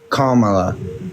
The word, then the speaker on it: Kamala: Can you say comma? comma, and then la. Kamala.